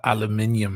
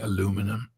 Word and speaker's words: aluminium: started saying Caribbean because I used to say aluminium and then I started saying aluminum right well to be fair you spell it differently as well do we spell it